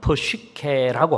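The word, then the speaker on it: ψυχή: 첫 번째 생명, 이거 생명은 육체적인 생명, 헬라어로는 좀 발음이 어렵습니다만 프시케라고 합니다.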